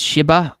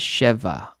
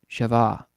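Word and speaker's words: שבע: strongest will say it's shba but I think you should actually pronounce it as cheva because there's no dot in that bet in that Hebrew word bet so it's ch so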